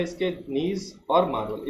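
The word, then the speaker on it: gneiss: इसको pronunciation proper करें बेटा, प्रोनाउंस प्रॉपर करें। इसको नीज बोलते हैं, जिनेसिस नहीं बोलते, कई लोग इसको जिनेसिस बोलते हैं, तो इसका होता है प्रोनाउंस नीज और मार्बल।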